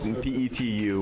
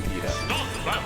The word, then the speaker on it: PETU: Now, it says P-E-T-U. We could pronounce it Petu, we could pronounce it P2, but I think it's supposed to be PETA, so we're going to call him PETA.